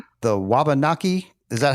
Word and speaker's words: Wabanaki: The Wabanaki. Is that how you would pronounce the Wabanaki tribe?